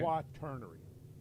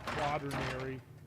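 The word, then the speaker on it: Quaternary: Okay, quaterary. A lot of people have trouble pronouncing that. They say quadinary. I think I even remember you Mike mispronouncing the word.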